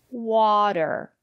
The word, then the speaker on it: water: say potatoes or flatten usually when the letter T is between vowels we pronounce the letter t as a fast the water better City and the reason is because the syllable after the letter T is not stressed water the first syllable